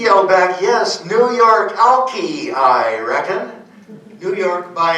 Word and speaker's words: Alki: Alki. Alki. No. With a short I. We pronounce it Alki nowadays, but that is the correct Chinook jargon pronunciation.